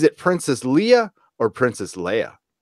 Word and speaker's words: Leia: Is it Princess Leia or Princess Leia? It's Leia.